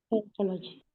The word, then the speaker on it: psychology: changed to psychology psychology psychology psychology P silent P before s silent psychology okay psychology I Chang